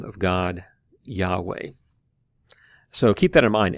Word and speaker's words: Yahweh: the consonants yhw H if you do that you get something close to Yahweh and so that would be the way we would pronounce it most likely although we can't be